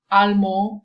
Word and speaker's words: allemand: or add an E, but there is a change in pronunciation, where you read the final consonant, where it's like allemand, allemande.